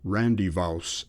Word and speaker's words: rendezvous: Monkshaven at this time for their rendezvous, or Randyvouse as it was generally pronounced, was an inn of